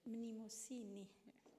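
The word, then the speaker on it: Mnémosyne: le la catégorie de mémosine non comme avvar vous le faisit prononce-toi mémosine à la grec s'il te plaît mimosine vous voyez c'est comme ça qu'il faut le dire c'est à mot de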